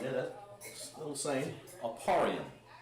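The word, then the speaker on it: אפרים: It's Ephraim. Name of this Aparium, I believe. Let me check. And this is yeah. Aparium. Yeah, that's still the same. Aparium. That's how you pronounce it in Hebrew.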